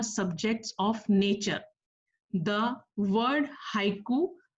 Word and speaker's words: haiku: The word haiku, pronounced haiku, is derived from the Japanese word hoku, meaning starting verse.